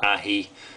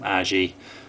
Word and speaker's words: aji: know how it's pronounced i know aji should be pronounced ahi but over in the uk quite a few people call them aji um but yeah forgive